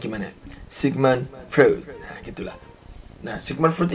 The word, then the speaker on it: Sigmund Freud: Bacanya gimana? Sigmund Freud.